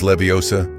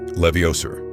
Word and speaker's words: Leviosa: Emma Watson, born in 1990, embodied the brilliance of Hermione Granger, famously correcting Ron's pronunciation with "It is Leviosa, not Leviosa."